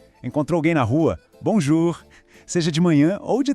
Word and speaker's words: bonjour: Pensa assim, você vai falar bom, mas não feche a boca no final. Deixa o som sair pelo nariz.